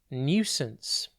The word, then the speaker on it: nuisance: TV today's word is nuisance it's pronounced new since and it is spelled